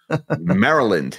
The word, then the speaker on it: Maryland: Maryland. It is not Maryland. Yes. You got to put the emphasis on the correct syllable when you're in Maryland.